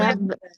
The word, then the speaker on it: verbe: এ ই এই জন্য ই এর উচ্চারণ ভে হচ্ছে, হ্যাঁ, নট ভো, ভো verb, verb, verb,